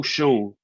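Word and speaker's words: Schoen: You're you're you're Joe Shonne. Joe, however you pronounce that name. Joe Shane, I think it is.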